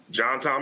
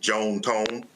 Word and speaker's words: John Tom: Uh, they were southern from Mississippi, so they pronounced it Joan Tone, but uh, yes, John Tom is his first and middle name.